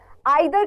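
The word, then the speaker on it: either: आइदर का मतलब या ईदर बोल सकते हैं, दो प्रोनाउंसिएशन होते हैं इस वर्ड्स की, लेकिन हम ईदर के साथ ही चलते हैं जनरली।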